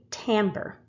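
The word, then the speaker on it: timbre: expanding combining sound waves now this is a word that some of you are probably going to automatically pronounce wrong this is called tamber the quality of sound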